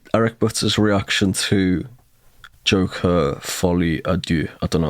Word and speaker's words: Folie à Deux: Folie à Deux.